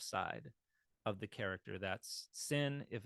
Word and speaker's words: sin: sha it's a shin if the dot is over the left side you've got the S sound it's a sin and um yeah I